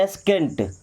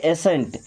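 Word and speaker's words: ascent: देखिएगा इसको वैसे क्या पढ़ते हैं एस्केंट अभी क्या पढ़ेंगे एसेंट क्योंकि यहां पे सी साइलेंट क्या पढ़ेंगे एसेंट इसको स्काइ नहीं पढ़ते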